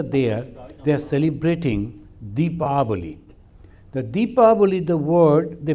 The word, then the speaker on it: Deepavali: The Deepavali, the word they pronounce sometimes as Diwali.